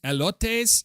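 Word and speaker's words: elotes: I don't think I'm pronouncing this correctly. Elotees is what it's called.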